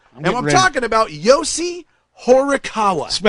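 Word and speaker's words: Horikawa: So, his new album, and I'm talking about Yosi Horawa. Spell it.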